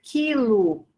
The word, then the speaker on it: quilo: Com XC, nós temos exceto, com QU, veja, olha, quilo, né? Veja que nós temos acompanhando esse dígrafo aqui, o I, a vogal I. A letra U não é pronunciada, você não diz quilo.